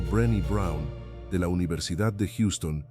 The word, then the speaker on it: Brené Brown: La investigadora Brené Brown, pronunciado Brenny Brown, de la Universidad de